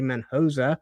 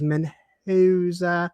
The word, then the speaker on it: Menoa: We have Menosa, who I still have not heard anyone really pronounce the name properly. They say Menhosa. Some people even say Menoa, but it is Menhoa.